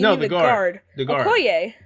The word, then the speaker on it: Okoye: I can't pronounce her name correctly. Oroki? Who? The Panther's sister. Oh yeah. No! Wait. Yeah. No, you mean the guard. The guard. Okoye. Okoye.